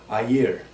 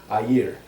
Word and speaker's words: air: well locally it's pronounced a year there is almost a two syllable pronunciation a year and believe it or